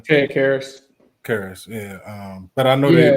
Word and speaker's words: Karras: Karras, yeah.